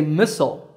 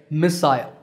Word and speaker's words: missile: For example, Americans say missile, while the British say missile. But notice that the stress is on the first syllable in both.